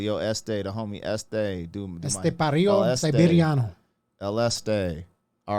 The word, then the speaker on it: Estepario: I always want to just say Esteban because it just sounds hard. But Estepario. Pario. So, I'm gonna be like, yo, Este, the homie Este, ESTEPARIO Siberiano.